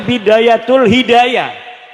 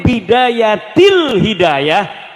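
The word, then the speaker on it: بداية الهداية: Karena deke maca Bidayatul Hidayah. Harus sebah dibacanya Bidayatil Hidayah karena anak huruf jerbe.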